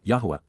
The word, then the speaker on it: Yahweh: blessings are reciprocated by the association with death Yahweh Yahweh the proper pronunciation of the name of eloah God as